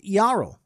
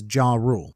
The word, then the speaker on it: Jarl: pronounce his name as Jarl, so I'm going to take the win where I can. However, this commenter is 100% correct. In Japanese, his name is Yaruru, and I've been mispronouncing